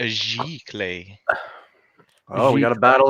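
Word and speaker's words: giclée: some different framed options JISC says it's pronounced ji clay is that correct ji ji clay I don't I don't okay so we're gonna go with discs definition of bricks and a dollar says it's a giclee oh we got a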